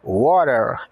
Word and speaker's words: water: preferimos água we prefer water o W tem o som de u o A de o o t de R o e de e o r de R então água water eu quero água I